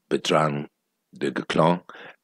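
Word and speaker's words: Bertrand du Guesclin: the great Commander uh petrang Declan uh that's how he's pronounced that checksum French YouTubers videos about him and that's how he pronounced them it's a very difficult name if you see the spelling um so Botanical clown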